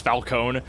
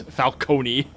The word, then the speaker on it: Falcone: from that game pronounces Falonee." Yeah. No, in uh the the the Lego the Yeah, the Lego Batman game pronounces it the way that Batman Begins does it, which is falcone.